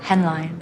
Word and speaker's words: Hänlyn: Hänlyn. Ah, see, good I asked you. It's my real surname, but it's spelt differently.